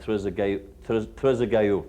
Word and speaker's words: Trezeguet: over on this side, Trezeguet, I believe is the French pronunciation.